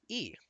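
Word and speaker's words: 一: this username which is the Chinese character for the number 1 which is pronounced as e so we'll call him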